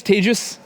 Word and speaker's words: Tejas: hi my name is tagious that's pronounced like contagious disease um I am not